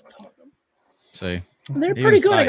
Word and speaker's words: Tottenham: I was like, "Oh, it's Tottenham." See. And they're pretty good. Even Sam's like, I know how to pronounce Tottenham these sucks.